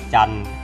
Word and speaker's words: จันทร์: กลัน อ่าน ว่า จันทร์ นะ ครับ จันทร์ อ่าน ว่า จันทร์ จันทร์ อ่าน ว่า จันทร์